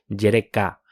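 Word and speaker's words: יַרְכָה: cuartos o partes provienen de la palabra hebrea jereka noten el énfasis en la última sílaba eso es del número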